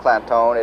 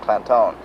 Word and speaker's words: Clanton: And while Clantone is pronounced Clantone, it is actually spelled C-L-A-N-T-O-N, but they put the emphasis on making it sound Clantone.